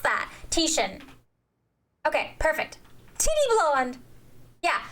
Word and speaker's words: Titian: How do you pronounce that word? Tittian.